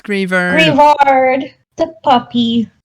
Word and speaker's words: Greavard: Also, I think the official pronunciation is going to be Greavard because it's most likely a play on words with graveyard.